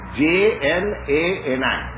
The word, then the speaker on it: jnani: Jnani, how do you spell it? J-N-A-N-I.